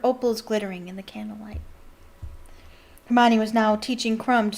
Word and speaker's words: Hermione: Hermione, she said slowly and clearly. Hermione. Close enough, she said, catching Harry's eye and grinning.